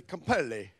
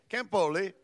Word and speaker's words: Campoli: Belmont Hills Elementary, Campelli. Did I say that right? Campelli. Campelli. How do you pronounce it? Campoli. Campoli's her name.